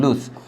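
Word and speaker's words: loose: আর যে লুজ, এটা ছয়ের মতো, যে লুজ, লুজ হচ্ছে ঢিলা বা আলগা।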